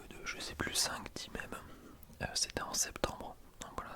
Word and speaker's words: mème: Le terme est une francisation de l'anglais internet mime. Il se prononce mème, non mime et en français. Attends, non ok, mème en français et mime en anglais.